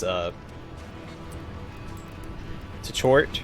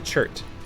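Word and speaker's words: Tchort: of her bunker also I learned how to pronounce too short or court it's actually chert it's been ounces hurt according to Google Translate someone pointed me in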